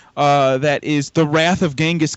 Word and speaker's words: Genghis: is the wrath of Genghis Khan or jenga's Khan I've been saying it wrong my whole life um anyway it's an